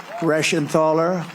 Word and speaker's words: Reschenthaler: Guy Reschenthaler. That's the hardest name in the Senate to pronounce, but I've learned how to pronounce it.